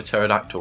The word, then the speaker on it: pterodactyl: yeah sorry how why can't you hear a pterodactyl when it goes to the toilet why cuz the p is silent how is that the